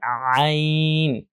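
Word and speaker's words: ع: করতে হয়, সেটা হচ্ছে আইন। একই জায়গা থেকে, যেখান থেকে হা আমরা প্রেসার দিয়ে উচ্চারণ করছি, ঠিক একই জায়গা থেকে আইন, আইন, আইন এটা উচ্চারণ করতে হয়।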